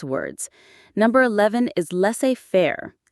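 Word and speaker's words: laissez-faire: Number 11 is less fair. L A I S E- F A I R E. Leair. The IPA is less fair. The s in less is silent.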